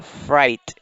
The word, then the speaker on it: fright: Entonces miren, acá tenemos que esta G y esta H son mudas. Es decir, que no se pronuncian. Lo único que nosotros vamos a pronunciar es la F, la R, la I y la T. La I la vamos a pronunciar a como se lee en inglés. La letra I en inglés es I. Entonces, esta parte de acá sería fright.